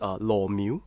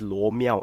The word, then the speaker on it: Lo Mio: Because in Cantonese it's pronounced as Lo Miu. So no R. Yeah, and then even in let's say you want to pronounce in Mandarin is Lo Miao, and I'm sure there are more Lo Miao in China.